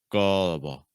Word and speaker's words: gullible: So instead of saying gull, might help to say gull with tip of your tongue down. Gull. And then we have able. Gullible. Gullible. Again, keeping those final syllables really weak and low in pitch.